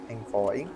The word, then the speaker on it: envoy: Você é um é aralto, a pronúncia em inglês envoyi.